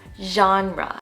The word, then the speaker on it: genre: The right pronunciation is genre. It's like an sh sound with your voice added into it, like genre.